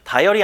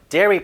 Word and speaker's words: dairy: 다이어리 아니에요, 여러분. Da products. Da products 요거 발음 잘해야 돼요. Dairy products 하면 모든 유제품을 다합니다.